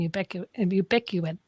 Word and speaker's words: ubiquitous: And I think you bring forward such an important point of it being ubiquitous.